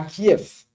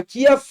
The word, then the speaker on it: Kiev: On me dit Kiev, bon. Ou même sous l'écrit K-I-E-V, ou dire Kiev, pas de problème. Mais dans la langue russe, dans la langue bulgare, V est toujours prononcé comme F.